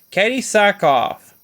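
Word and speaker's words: Katee Sackhoff: played by no hey Casey forgot her it's pronounced her name Katie Sackhoff not only did she voice the character she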